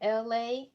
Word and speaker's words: Elay: I am LA, Elay, LA pronounced like the city.